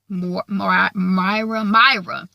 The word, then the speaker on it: Moira: Myra. It's spelled Moira in the book, so I wasn't quite sure how to pronounce it. But I think they just pronounce it Myra.